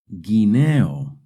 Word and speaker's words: guineo: When the G and the U are followed by an E or an I, the U is silent. Guineo, guineo.